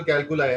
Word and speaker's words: calculi: होते हैं, और अगर मैं थोड़ा सा अगर प्रोनाउंसिएशन में अगर दिक्कत हो, इज इट रीनल नहीं नहीं, कोई बात नहीं भाई। कैल्कली? हाँ, इज इट रीनल क्या कहा कैल्कली? आपने? हाउ we speak, renal कैलकुलाई, हाउ हाँ।